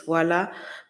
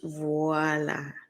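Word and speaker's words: voilà: it doesn't work voila I love to say this word in English because in French it's voila but in English it's voila ha ha okay okay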